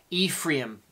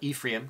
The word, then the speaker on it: Ephraim: have his other son Ephraim is how you would pronounce it in the Hebrew Ephraim um most people English call it Ephraim call them Ephraim double